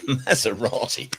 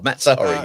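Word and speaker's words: Mazzarri: Maserati. Oh, that's a mispronunciation too far. Mazzari.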